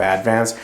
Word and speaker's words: Advance: So Advance, North Carolina, by the way, it's a weird pronunciation. When you're talking about the word advance, you say advance, but the town is called Advance. Spelled the same weird.